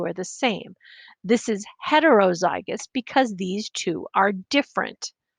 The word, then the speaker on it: heterozygous: they're different oh i didn't put a little pronunciation thing there but it's homozygous heterozygous and you may recognize this homo hetero from